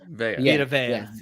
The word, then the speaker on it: Vita Vea: Yes, and they don't get much bigger than Vita Vea. Am I pronouncing it correctly? Vita Vea. Vita Vea.